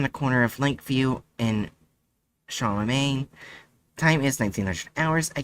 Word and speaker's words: Charlemagne: We're at the Relic House on the corner of Lakeview and Charlemagne.